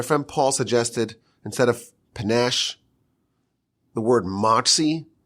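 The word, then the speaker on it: panache: was a clever idea panach kind of rhymes with cash cash is keened panach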